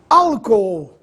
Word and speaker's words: álcool: caso contrário ficaria iamos álcool essa divisão silábica é interessante alco a sílaba tônica é a primeira no caso a antepenúltima